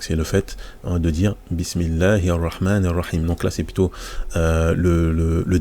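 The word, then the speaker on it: بسم الله: donc là on fait on fait la liaison directement bismillah donc ça c'est on prononce pas le même et on ne prononce non plus le Alif parce que c'est tout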